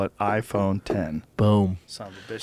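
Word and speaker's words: iPhone X: How to pronounce the new iPhone. Then you have Tim Cook saying, we call it iPhone 10.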